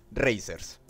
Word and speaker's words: RZR: acá nos ubicamos como rz r o mejor conocidos por su pronunciación racers hoy tocará alabar uno